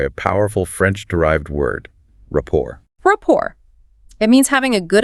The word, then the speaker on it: rapport: And technically, the T is silent, so it's pronounced rapport, with the stress on the second syllable.